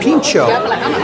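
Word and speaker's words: pintxo: call it tapa sometimes they call it pincho but they spell it P I N C H oos so a little bit different but a little bit of a nod to uh Basque culture and also I've seen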